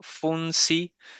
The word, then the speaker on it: Funpsi: Para que quede claro Funsi se escribe f u n p s i. Funsi. Como si de psique, de psicología, de psi.